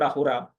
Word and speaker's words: Ahura: So it is full of the word Ahura. Of course, pronunciation different. So Asura is mentioned as Ahura, and that is a positive term inside the Zoroastrian text.